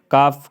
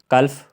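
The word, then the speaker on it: calf: तो इसमें जो है कलफ कलफ हल्फ नहीं पढ़ रहे काफ पढ़ रहे हैं हाफ पढ़ रहे हैं ठीक है एफ बोल रहे हैं लेकिन एल नहीं बोल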